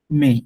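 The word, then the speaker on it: mais: প্রথম একটা ওয়ার্ডটা দেখি এম এ আই এস এটাকে আমরা বলতেছি মে এসটা কিন্তু উচ্চারণ করতেছি না এসটা আমি এখানে উচ্চারণ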